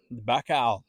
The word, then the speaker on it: Baikal: We have a Russian Baikal. That's pronounced correctly.